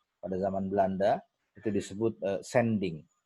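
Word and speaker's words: zending: Pada zaman Belanda itu disebut sending, tulisannya pakai Z tapi bacanya pakai S, ya.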